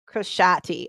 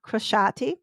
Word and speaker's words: Crociati: me look at my cheat sheet, how to pronounce her name. Crociati.